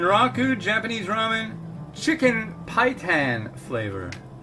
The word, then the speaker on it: Paitan: this this man rock ooh Japanese ramen chicken pie tan flavor hi tan rhymes with chitin and Chi Thanh is where the